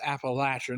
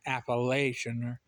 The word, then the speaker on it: Appalachian: And then of course in the western part of the state we got the Appalachin Mountains and um they're pronounced Appalachin, not Appalachian.